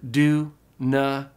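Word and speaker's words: δύναται: In the last line, the words are pronounced asthenousi. Again, together, asthenousi. And the last word, dunatai.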